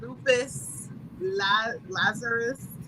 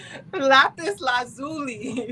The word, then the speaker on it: lapis lazuli: okay so for your throat choker crystals the lupus lazarus am i saying that right last zulu yes i have mine here lapis lazuli sorry girl we love when you have that